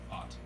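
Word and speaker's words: Pfaadt: You got, Jake McCarthy, Brandon Fod. Fought. Fought? It's a European fart. He's fighting you. He's a fighter. The D is silent. P and the D are silent.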